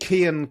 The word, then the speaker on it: Cian: The next one is from a chap called Cian Callahan. Apparently, somehow it's spelled with a C-I-A-N.